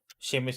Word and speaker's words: Seamus: Seamus is without an H. So it's really Seamus. That is how you pronounce it.